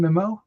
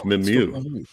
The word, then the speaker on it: Mimieux: pronounce her last name mimo okay there we go I think it's mimu m yeah it's like a French cow M she looks like